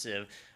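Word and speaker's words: Sieve: First off, Civ, it's spelled S-I-E-V-E, pronounced Civ, and it is a filter.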